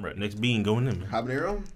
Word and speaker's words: habanero: Habanero? Jabanero, actually. Okay, yeah. No, that's how you pronounce that.